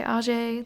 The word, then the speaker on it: Ajay: I know a lot of the characters say Ajay. They say that's the right way to say it, but he says AJ, so I'm going with AJ.